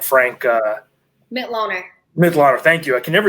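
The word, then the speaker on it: Mitloehner: Mitloner.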